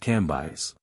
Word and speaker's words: Cambis: which was pronounced Levi cambis pronounced ambis these antique visages and